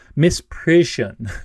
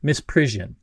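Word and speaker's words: misprision: about before Miss pris Miss prison Miss prison it's hard for me to pronounce that word it's like Parisian and Mist per together but miss prison essentially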